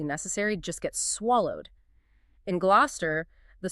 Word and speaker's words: Gloucester: It looks formidable. It just it invites you to say gluster. It does. It has four written vowel clusters. It's practically begging you to mispronounce it. So what's the reality? The reality is far more compact. The correct pronunciation is simply glouester. Gloucester. Gloucester. Two syllables.